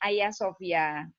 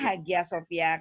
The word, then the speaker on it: Hagia Sophia: Jadi memang tulisannya Hagia Sophia, tapi kita bacanya Hagia Sophia gitu. Tulisannya Hagia Sophia karena G itu nggak dibaca.